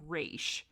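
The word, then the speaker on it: Raasch: like ashes by sarah i think he pronounced her last name race because it's r a a s c h so i think that's how you pronounce it but it's a why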